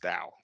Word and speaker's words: DAO: where every company is run by a Dao pronounced Dao it's another topic standing for decentralized autonomous organizations